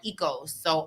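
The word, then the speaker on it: oikos: Greek yogurt like the yogurt there's yogurt called Eco so o-i-k-o-s that's pronounced ecos that's where ecos family that's where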